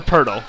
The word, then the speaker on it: Purdle: It's like turtles for Purle.